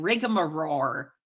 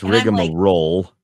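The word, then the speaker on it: rigmarole: the clips of you saying rigar roar it's rigar roll is what it is and it's a noun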